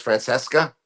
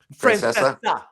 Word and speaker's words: Francesa: You're familiar no C? You don't pronounce Francesca? Francesa.